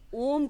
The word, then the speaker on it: ओम: मैं ओम के लिए भी थोड़ा सा एक चीज आपसे पूछना चाहती हूं कि ज्यादातर लोग सीधे ओम का उच्चारण करते हैं। जबकि इसमें तीन अक्षर हैं।